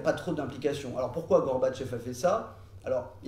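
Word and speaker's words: Горбачёв: C'est en 1954 que Gorbatchev pour le dire avec la prononciation russe, Gorbatchev en 1954 va décider de rendre le territoire de la Crimée à l'Ukraine.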